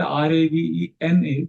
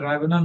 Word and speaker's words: Ravana: So Ravana, of course, they pronounce it Ravena, but we know that Ravana means Ravana. Rome means Ram.